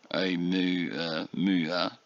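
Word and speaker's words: ʻOumuamua: So, in addition to the technical name, the Pan-STARRS team dubbed it Oumuamua, pronounced Oumuamua, which is Hawaiian for a messenger from afar arriving first.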